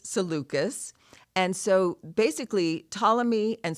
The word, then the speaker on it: Seleucus: problems with readers is oftentimes we read words and we're not sure exactly how to say it so um but it is seleucus and so basically Ptolemy